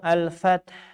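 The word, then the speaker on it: الفتح: Di akhir ada 2 sukun. Fath taknya dibaca sukun asli, hanya sukun palsu ya. Tapi tidak jadi mad. Malah dibaca sempurna.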